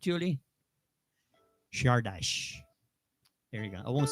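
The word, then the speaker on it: Csárdás: the song or the tune this is called shardash correct julie shardash there you go i won't say it anymore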